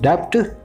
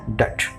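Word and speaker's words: debt: तो never say आई एम इन a huge डेप्ट, always say आई एम इन अ डेट। तो बी is silent.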